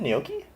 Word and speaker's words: gnocchi: In any case, It's uh, pronounced gnocchi, first of all. Oh, Right. the chicken gnocchi. Is it gnocchi? It's pronounced gnocchi. I've been saying it wrong this whole time.